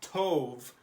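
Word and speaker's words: טוב: This word is pronounced tov. Tov.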